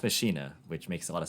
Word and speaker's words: Machina: actually have realized that pronouncing this deck wrong the entire time so to kind of correct my habits there but it's fast machina which makes a lot